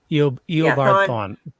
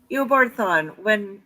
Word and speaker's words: Eobard Thawne: And the when he and how do you pronounce his opposite's name? I'm gonna butcher it. Dr. Zoom or whatever. Yeah. Eobard Thawne. Eobard Thawne.